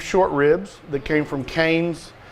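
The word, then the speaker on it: Kohen's: So I'm going to demo this to go with our grass-fed organic beef short ribs that came from Cane's. It's spelled like K-O-H-E-N, but it's Cane's organic grass-fed beef.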